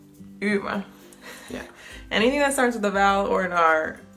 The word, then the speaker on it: Ymer: Det er Ymer. Ymer. Ymer. Ymer.